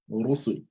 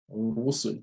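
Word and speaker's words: رُسُل: So the Ra will be pronounced heavily with a full mouth. So Rabbi, right? Rusul. Rusul.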